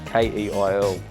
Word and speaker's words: Keil: search Keil online, and that's Keil. Yes, it's a doozy. Because I know, I was like, that doesn't pronounce how Nope, it doesn't. It's German. It's old school German.